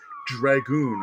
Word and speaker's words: Dragonne: This is the Dungeons & Dragons Nolzur's Marvelous Miniatures Dragoon. I pronounced it correctly this time.